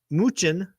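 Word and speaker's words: Mnuchin: uh where that goes uh former treasury secretary muchin that's how you pronounce his name is out talking about his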